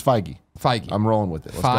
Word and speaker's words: Feige: say yeah working there we'll make sure we pronounce it our new Canon I don't wanna get it it's Feige Mike I'm rolling with this tigey that's what